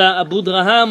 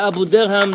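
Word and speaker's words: Abudarham: The fifth reason was from the Abu Draham or the Abu Derham, depending however you want to pronounce this word.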